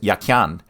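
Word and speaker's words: Jachin: The word yakin is Hebrew. It was probably pronounced yakyan and meant as a verbal noun.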